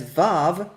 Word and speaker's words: Waw: The common pronunciation of this letter today as Vav rather than Wow is a reflection of conventions in the modern period, primarily those hailing from Germanic language practices.